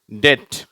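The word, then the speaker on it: debt: டெப்த் ஆழம் டெட் இறந்த டெட் கடன் இதுல இந்த பி என்ற எழுத்து உச்சரிக்கக்கூடாது சரியா டி இருந்தா எப்படி இருக்கும் டெட்ன்னு சொல்றோம் இல்லையா அப்படித்தான் உச்சரிக்கணும் சரியா அடுத்தது டெக் கப்பலின் மேல்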